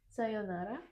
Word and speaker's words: sayonara: And the important thing is it's not sayonara, it's sayonara. Mm. Well, when we don't speak casually, sometimes we say sayonara, Mm. but originally it is sayonara. Mm. So there's a sound that we're missing And sometimes. it's important to keep one more here.